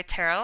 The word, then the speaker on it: Terell: have always gone by Terell I know it looks a little funny but it's pronounced like Carol with a t um I am formerly